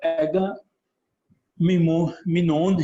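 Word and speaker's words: Agamemnon: जी जी, दोनों तरह से इसको प्रोनाउंसिएट कर सकते हैं। एगामिनोन भी कह सकते हैं और एग्मिनोन भी कह सकते हैं, इसे जैसे आपकी जो है वो मर्जी।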